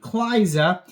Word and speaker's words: Cliza: This is like Eliza, spelled the same, except the E is a C, Cliza.